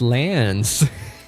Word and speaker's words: Lance: was Lany no it's Lance no it's Lance it's just Lance like the weapon you know like a a spear is also called a lance it's pretty good okay